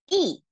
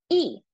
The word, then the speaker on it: 一: But in this case, we have to pronounce it as the fourth tone. It should be E. E.